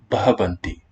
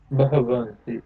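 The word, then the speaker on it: भवन्ति: The way it's actually pronounced in the third plural is Bhavanti. Bhavanti.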